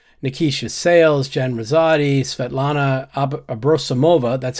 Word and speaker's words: Abrosimova: visible on television nikisha sales Jen Rosati Svetlana abrosimova that's how I learned to pronounce that properly and sveta is the abbreviation